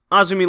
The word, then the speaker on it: AZM: Hazuki defending against Azumi. AZM. That's how it's spelled. Azumi loses.